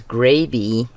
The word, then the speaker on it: Grabie: Now you might also be wondering, why do I pronounce the brand name as Grabie and not Grabie? I cannot say constantly, I cannot say Grabie because of the way it's spelled.